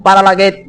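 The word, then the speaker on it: παραλλαγή: Quiere decir paralaget, se pronuncia como paralaget, mudanza, hermano, y quiere decir transmutación.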